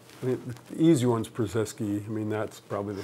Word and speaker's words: Purzycki: I said, "Oh, it's Purzycki."